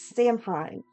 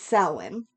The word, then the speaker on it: Samhain: Now, I know that it is spelled and some people pronounce it as Samhain, but it's Samhain.